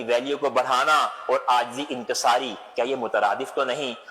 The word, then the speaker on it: انکسار: پہلے تو وہ تلفظ کے لیے انکساری لفظ جو ہے نا یہ اہل لغت کے نزدیک غلط ہے. انکسار جیسے عجز و انکسار, تواضع, عاجزی, یہ درست.